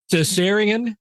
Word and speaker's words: Caesarion: I can't pronounce this right. Caesarion, was he really Caesar's son?